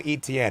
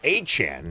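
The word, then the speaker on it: Etienne: Travis, we no longer call him ETN. It's a Chan is what he said is the true pronunciation of his last name.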